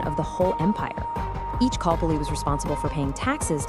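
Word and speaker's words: calpolli: The basic building block of life for a commoner was the kalpoli, pronounced kalpoli.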